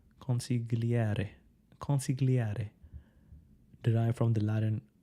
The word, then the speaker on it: consigliere: Advisor, consigliere. So you have to pronounce it in an Italian way. Consigliere.